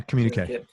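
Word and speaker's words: Communiqué: Communique. Is that how you say it? Communique? Yeah, Communique.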